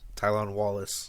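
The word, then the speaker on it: Tylan Wallace: the next one is Tyler how do you pronounce walls tylon Wallace tylon tylon Wallace okay excuse me uh his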